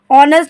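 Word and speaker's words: honest: मतलब होता है ईमानदार यह आपको देखने में पढ़ने में लगेगा नेस्ट है और इसको नेस्ट नहीं पढ़ना इसे ऑनेस्ट पढ़ना है जो आपका एच है वो साइलेंट रहेगा तो एच ओ एन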